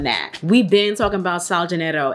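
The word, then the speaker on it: Sol de Janeiro: we've been talking about sal genetto and that is how you say it it's not soul de janeiro i used to be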